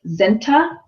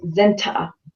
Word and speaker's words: Zenta: he pronounces it the the t is really strong so it's like um zenta like the T is like a little bit longer but I mean either